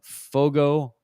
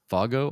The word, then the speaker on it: Fogo: but mine is uh Fogo Island if it might be pronounced Fargo Island but I think it's Fogo Island and there's so this